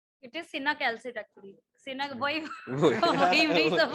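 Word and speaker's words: cinacalcet: Matlab, he has not pronounced it correctly. It is cinacalcit actually.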